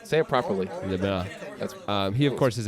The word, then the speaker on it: LeBlanc: LeBlanc.